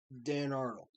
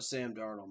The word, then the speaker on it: Darnold: no doubt but um so let's talk about dan arnold or sam darnold my bad that's how you can tell it's